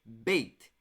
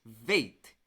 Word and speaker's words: Beit: Quando a letra Beit tem esse pontinho, você vai pronunciar bem forte, como um B. Então vai ser Beit. Quando não tem o pontinho, a gente vai pronunciar um pouquinho mais fraco, como a letra V. Então vai ser Veit.